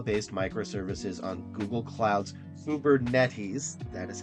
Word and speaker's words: Kubernetes: 40% in Scala based microservices on Google Cloud's Uber netes that is how you say it using redus